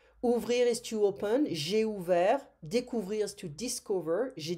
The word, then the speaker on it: ouvert: J'ai ouvert. Découvrir is to discover. J'ai découvert. Offrir is to offer. J'ai offert. We don't pronounce the T, hein?